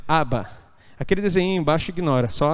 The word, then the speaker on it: Abba: palavra pai ali tá a pronúncia está errada mas é Abba aquele desenho embaixo ignora